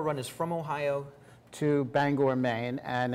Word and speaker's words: Bangor: is from Ohio to Bangor Maine and it's more or less a scavenger hunt I've always heard it pronounced Banger uh I guess I'm